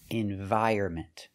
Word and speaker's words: environment: one is me so the N is silent you don't pronounce the N environment open to the outside